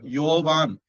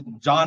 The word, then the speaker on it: யோவான்: அப்படியே தமிழாக்க முயற்சி பண்ணுவாங்களாம் இப்ப யோவான் அப்படிங்கறதுதான் உண்மையான சரியான வார்த்தை அதை ஜான் ஆக்கிடுவாங்க இயேசுதான் சரியான இது யகோவா